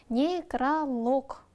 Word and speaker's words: некролог: Некролог. Ударение на последний лог.